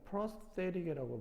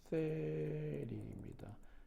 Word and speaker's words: prosthetic: 12번에 prosthetic이라고 발음이 되고요. prosthetic입니다.